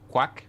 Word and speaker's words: Quach: So my name was, I noticed you said Quach. So my name, it's pronounced Quach.